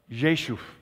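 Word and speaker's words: Rzeszów: Prague landed in the Polish border city of Jesus okay now it's spelled r-z-e-s-z-o-w but it's pronounced Jesus so every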